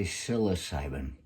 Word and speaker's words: psilocybin: a month ago psilocybin people will say psilocybin i say silas simon because psi that's the way it's spelled there in the beginning that's the greek for uh you know the mind and so silas simon not going to be